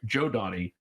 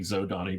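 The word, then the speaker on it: Zhodani: But there was some sort of adventure where Joe Donnie. I'm still stuck on saying Zodani because that's the way I pronounced it for 30 years until basically Mark looked at me and went, Joe Donnie.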